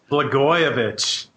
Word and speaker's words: Blagojevich: And we have to send birthday greetings out for the 52nd birthday of Rod oh my gosh, what do you pronounce? Blagojevich.